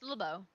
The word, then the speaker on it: LeBeau: It's LeBeau. Yeah, so it's I guess like Nouveau.